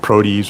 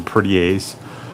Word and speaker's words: protease: So you have protease or protease, lipase, right, with fat. Protease or protease, however you want to pronounce it, with protein. I've heard it both ways.